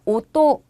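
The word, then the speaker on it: 音: 이처럼 일본어로 읽을 때에도 훈독과 음독이 존재를 하게 되고 자 소리처럼 일본어 훈독은 옷또 일본어 음독은 옹이 됩니다.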